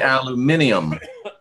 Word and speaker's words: aluminium: The Brits say aluminium. Aluminium.